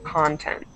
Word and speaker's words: content: pronounced it okay, but just think about the stress. So we have content, content. Okay, the stress is on the O, content.